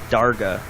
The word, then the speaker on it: Darga: One such secondary source was a Hutt crime lord named Darga. It's spelled D-A-R-G-A.